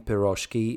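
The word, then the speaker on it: pirozhki: The stress in piroki is properly placed on the last syllable.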